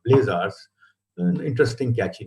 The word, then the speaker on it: blazar: BL and then they to kind of rhyme with quazar was called the blazar an interesting catchy name